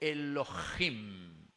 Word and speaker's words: Elohim: Se escribe y se dice Elohim.